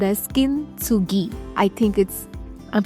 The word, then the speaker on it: kintsugi: In Japan, there's an art form called as kintsugi. I think I'm pronouncing it correctly.